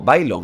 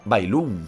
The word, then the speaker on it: Bailon: Es como Bailon, al principio yo le decía Bailum por la cara, o sea, Bailum en vez de Bailon por la cara.